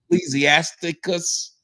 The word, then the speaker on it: Ecclesiasticus: it's 12 through 14 ecclesiastic ecclesiasticus right am I saying that right that's correct you're saying it right because a lot of